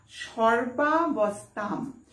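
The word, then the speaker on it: সর্বাবস্থাম্: উনস্বর যদি থাকে শব্দের শেষে, সংস্কৃত বলছে, সংস্কৃত শাস্ত্র বলছে সেখানে কিন্তু উচ্চারণ হবে ময়ের, তাহলে কি হবে সর্বাবস্থাম।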